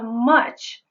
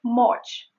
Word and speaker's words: much: So when she said, "Thank you very much," the much is something I would like to focus on. She is saying much, which is not much. Instead of this sound, she's saying this. Much.